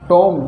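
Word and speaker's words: tomb: से पहले अगर बी आता है तो 20 साइलेंट रहेगा जैसे सी ओ एम बी कॉम यानी गंगा ऐसे टी ओ एम बी टॉम टॉम यानी समाधि अभी इसको हम कब पढ़ते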